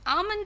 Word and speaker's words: almond: No, the correct pronunciation, yeah, almond. Almond is very good for your brain.